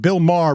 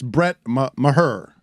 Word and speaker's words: Maher: the kicker I thought I want to always pronounce it like Bill Maher but it's Brett Maher Jesus get that wrong